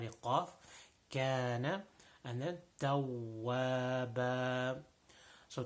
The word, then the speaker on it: تَوَّابًا: And then tawwaba. So tawwaba, making sure that the wow over here, we already talked about the wow, that it should not be pronounced like a V sound.